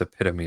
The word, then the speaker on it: epitome: It's pronounced, oh yeah, I said it wrong. It's epitome, I think.